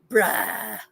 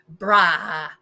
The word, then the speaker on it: brah: Bruh. Oh, that's how they say it. Yes. Brah. Not bruh. It's brah.